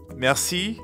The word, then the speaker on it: merci: it merci that's right merci means thank you merci merci merci has a french r in the middle so we have to use our throat a bit mer merci merci you give it a